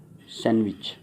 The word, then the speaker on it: sandwich: अब मोस्टली क्या यूज़ करते हैं, सैंडविच, बट ये सैंडविच नहीं है बेटा, सैंडविच। डी यहाँ पर क्या है, साइलेंट, तो ये यहाँ पर क्या है, सैंडविच।